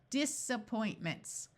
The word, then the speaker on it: disappointments: the root a point most English words that are two syllables or more that start with an a rather than having a clear short a sound of a or a clear long a sound usually have a muffled schw sound of uh so rather than using